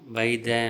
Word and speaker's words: ಬತ್ತದೆ: ಮೊದಲನೆಯದು ಬತ್ತದೆ ಎಂಬುದನ್ನು ಬೈದೆ ಅಂತ ಉಚ್ಚರಿಸಲಾಗುತ್ತದೆ.